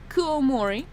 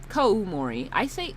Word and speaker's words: Koumori: So check out Kuomori. Koumori. Did I say Kuomori? Koumori. I said their name wrong, dude.